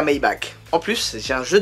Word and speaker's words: Maybach: Maybach, en principe, ça se dit à l'allemande. Maybach.